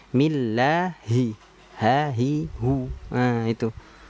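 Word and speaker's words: بِسْمِ اللهِ: Millai, millai. Nah, ini kan kurang tepat. Jangan sampai kita membacanya bismillahi. Harusnya kan millahi.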